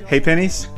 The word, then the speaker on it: Ha' Pennies: Pronounce the name again. Ha Pennies.